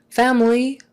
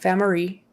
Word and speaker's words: family: live but negative no family family history family family uh yeah family make sure you get the l not family family make sure your tongue comes up to the front family family um history